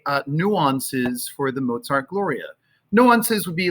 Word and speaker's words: Gloria: start off by doing gloria emphasis on the first syllable gloria off so if